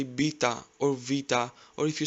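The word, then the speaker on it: βήτα: Next is vita. You must have heard it like beta or beta. Replace the letter B with V and try to say vita, vita.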